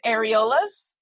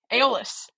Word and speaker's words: Aeolus: How are we all pronouncing that dude's name, by the way? Sometimes Aeolus.